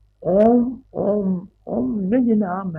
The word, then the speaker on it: ओम: उच्चारण ओम का अ उ म तीन अक्षरों से तीन अक्षरों से जुड़ने से स्वर बनता है ओम तो वो तो तुम्हारी